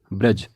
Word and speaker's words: ब्रज: होगी व होगी ब्रज ब्रज और इसका उच्चारण होगा ब्रज ना कि ब्रिज क्योंकि यहां पर ब में र जुड़ा हुआ है ना कि ऋ स्वर अगली वर्तनी है कड़ाही